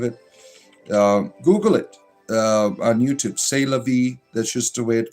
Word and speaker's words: c'est la vie: C'est la vie is French, but it is a common pronounced c'est la vie. Yes. Oh, sorry. I'm ignorant. C'est la vie.